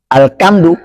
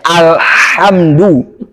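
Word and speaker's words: الحمد: oleh si pembaca Maka jangan bacanya alkamdu bacanya alhamdu ini jauh banget bedanya antara ha nah atau antara ha dengan ha alhamdu jauh banget jadi bacanya alhamdu nah baik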